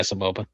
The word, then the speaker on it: Saboba: I think Saboba, that's how you say his name, right? Saboba? Mhm. Yeah, Saboba. Yeah. Okay. So I got it right.